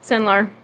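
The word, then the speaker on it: Cenlar: Senlar.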